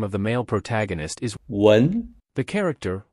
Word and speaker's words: 文: To remember the pronunciation of 文, we use Wendy with red hair and two braids as an intermediary.